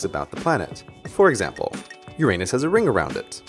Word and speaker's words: Uranus: that the name of the seventh planet is pronounced Uranus. Of course, to a kid, Uranus sounds an awful lot like Uranus, which is